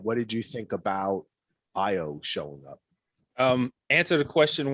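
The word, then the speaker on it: Ayo: And he meets up with, I believe it's pronounced Io, right?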